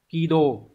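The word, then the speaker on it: 軌道: này câu số 22 chữ Hán là chữ quỹ và chữ đạo đọc là Kido thì cái từ quỹ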